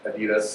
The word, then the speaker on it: Adidas: Hasbro uh X Games Adidas I'll use the American pronunciation on that one um and and while